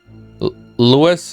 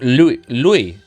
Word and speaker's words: Louis: Lewis is like you say, without the S. Oh, wait. Like Lewis, like Lewis Hamilton. So just Louie pronounced like Euore the door.